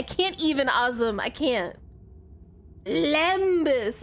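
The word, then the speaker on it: lembas: Limbbus bread. Limbbus. Limbus bread. I can't take you seriously if you can't even spell it correctly. Can't even I can't even aim. I can't. Lambus.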